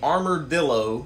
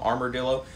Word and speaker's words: Armordillo: guy this is the armor dillo i think it's how you say it like armor armadillo armor dillo they're exfor version two